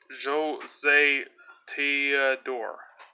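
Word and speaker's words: José Théodore: is against Jill Thornton ten fast facts about Joe's a Theodore it's pronounced Joe say T door there you go case you weren't sure nicknamed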